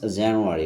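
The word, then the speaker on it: January: এটা সাধারণত foreign language এবং তারা যেভাবে প্রনান্সিয়েশন উচ্চারণ করে থাকে সেভাবে করাটা আমাদের মনে হয় ভালো। হি হ স্টাডি হিয়ার সিন্স জানুয়ারি।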